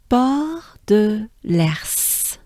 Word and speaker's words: Port de l'Ers: I know it's tricky when there's a R to pronounce other consonants, but S, right? But at least this one is helpful because it starts with E, so it's Ers, and it's l'Ers, right? So as a whole, it sounds like this.